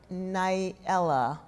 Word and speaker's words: Nyela: crafting that character, and I pronounce her name Nailah, but Nailah, okay. I think, I'm not sure which one is sort of most correct from the Swahili, but, I really was